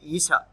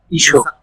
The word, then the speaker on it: Isha: It should be Isha. Isho. Isho is the with the Sandhi. If you added, it's become Visarga and it's become Isho. Together, Isha Upanishad, Isho Upanishad together.